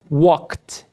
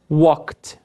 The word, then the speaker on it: walked: Walk. Walked. Walked.